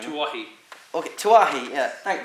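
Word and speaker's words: Tuohy: Alright, finally, Dominic, not even going to try and pronounce that last name. Tuahi.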